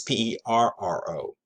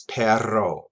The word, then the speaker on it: perro: um the word for dogs or dogs is p-e-r-r-o and that's pronounced as perro perro perro which requires effort on my part